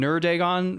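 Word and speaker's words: Neurdagon: Adonis um and then nerdagon which is spelled n-e-u-r-d-a-g-o-n like neuro dragon without the O and the r and that's number four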